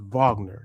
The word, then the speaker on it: Wagner: Franz, and it's pronounced Wagner. So even though it's a W, it's a V.